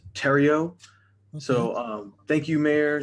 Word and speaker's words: Theriot: uh hi mary maze no it's uh it's french so it's terrio so um thank you mayor thank you council my name is tario t-h-e-r-i-o-t uh address is